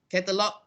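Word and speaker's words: catalogue: So catalog. The GUE is not pronounced. So the American just catalog G, dialogue G.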